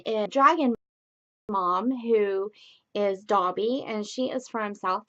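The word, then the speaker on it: Daubie: the group one is dragon mom who is dobby and she is from south dakota and she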